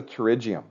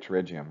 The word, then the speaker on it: pterygium: so this is a pterygium funny writing just remember how to write pterygium right silent P there it is the silent P I'm going to change